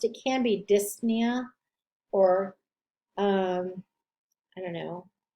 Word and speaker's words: dyspnea: suffixes ema osmia nia remember with that pn you only pronounce the n nia tysis that's spitting again the p is not really pronounced it can be dyspnea or um i don't